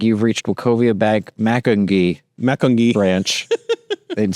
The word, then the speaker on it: Macungie: Macungie. Okay. And there was a bank that like fungi.